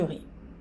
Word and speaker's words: riz: J'ai fait du riz. Eu fiz arroz. J'ai fait du riz. Arroz, né? O Z no final não se pronuncia.